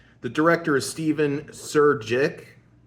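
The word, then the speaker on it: Surjik: The director is Stephen Sir Jick, Sir Hick, whatever it is. Jay is silent.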